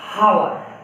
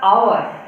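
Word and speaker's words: hour: तो देखिए कोई कोई बच्चा तक पढ़ देता है हावर, हावर बच्चा पढ़ता है, कोई बच्चा पढ़ता है हावर। अगर हावर पढ़िएगा तो यहाँ पर ए आएगा, लेकिन प्रोनाउंसिएशन गलत पढ़ रहे हैं। इसका प्रोनाउंसिएशन होता है आवर। क्या? आवर, आवर। तो देखिए इसका फर्स्ट में जो साउंड क्या रहा है, आ।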